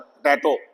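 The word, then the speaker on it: potato: पोटैटो पोटैटो सही तो पोटैटो। तो यहां ओ यह वाला ओ देखना है। यह लॉन्ग ओ आएगा। पहला स्वा साउंड है।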